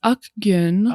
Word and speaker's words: Akgun: We got Diego Segura and Akgun. Yes. Did I get that even close to right? No, that's actually pretty close. Well, thank you Well, guys. say the exact. It's Akgun.